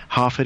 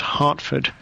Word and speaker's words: Harford: I guess the only other thing to mention is Harford is spelled Harford, not Hartford. I'm not a town in Connecticut.